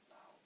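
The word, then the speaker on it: Löw: Lau, that's how you say it.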